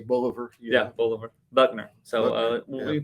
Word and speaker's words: Bolivar: Confederate General Simon Bolivar. Did I say that right? Bolivar? I've heard it pronounced a whole lot of different ways. I just say Bolivar.